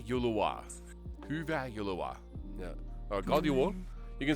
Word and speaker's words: God jul: Or God Jul.